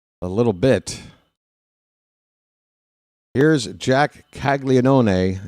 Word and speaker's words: Caglianone: Here's Jack Caglianone, and yes, I pronounce it that way. You're not going to convince me that that first N in his name is silent.